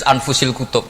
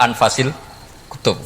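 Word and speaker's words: أنفس الكتب: Di sini ditulis anfusil kutub, selalu saya baca anfasil kutub karena maknanya kitab terbaik. Kalau kitab terbaik bacanya bukan anfus tapi apa? Anfas.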